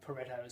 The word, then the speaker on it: Pareto: across an Italian guy by the name of Vilfredo Pareto, or Pareto as some people pronounce it.